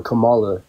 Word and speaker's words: Kamala: with Kamala okay uh her name is pronounced Kamala if you can't pronounce it right feel free just to